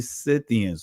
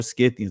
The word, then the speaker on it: Scythians: also connected to the Scythians or Scythians. I'm saying it both ways because some pronounce it Scythians, some pronounce it Scythians, so I'm pronouncing it both ways.